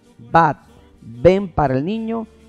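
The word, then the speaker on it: בת: Usted quiere decir hija, llamar a su hija, solo dígale Bat. Bat, ven para el niño y bat para la niña.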